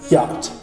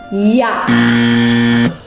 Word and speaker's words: yacht: Yacht. Y-O-T. Yacht. Incorrect. Are you serious? Yeah. The word yacht is spelled Y-A-C-H-T. That's not fair. It was so difficult. There's so many silent letters.